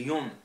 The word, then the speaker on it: Yann: Yann Larour a prononcé Yon en breton, père de Larour.